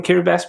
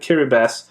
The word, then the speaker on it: Kiribati: I think you've taught me and a number of collectors watching what an atoll is, as well as the fact that Kiribati is pronounced with an S. Kiribati would be an interesting country to explore philatelically.